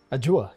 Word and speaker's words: Ajua: How do you pronounce it? Ajua, correct.